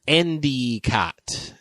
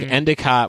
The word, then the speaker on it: Endicott: or as they would say up there endot that I turned turns into an E up there.